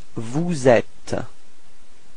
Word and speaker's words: vous êtes: sound, and after that you should do the liaison. So this small link between the S and the E, so you get vous êtes. Repeat. Vous êtes. Okay, final S not pronounced.